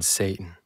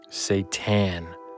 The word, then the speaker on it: Satan: Until this moment, I've never believed in Satan. Satan.